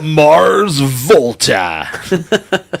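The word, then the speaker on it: The Mars Volta: was very impressed I think you said the name wrong it's the Mars VTA hailing from El hasso Texas the Mars VTA have you seen them no I still haven't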